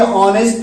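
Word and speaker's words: honest: दूसरे में देखिए ऑनेस्ट का एच साइलेंट रहता है, इसलिए यहाँ एन ऑनेस्ट मैन होगा।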